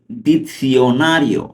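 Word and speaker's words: dizionario: ইল দিতসিওনারিও স্তুদিয়া ইল দিতসিওনারিও অর্থ অভিধান পড়ো স্তুদিয়া ইল দিতসিওনারিও উচ্চারণটা আমি ভালোমতো খেয়াল করব দিতসিওনারিও ওকে যেমন গ্রাসি পড়েছি ওইভাবে দিতসিওনারিও স্তুদিয়া অর্থ এখানে পড়ো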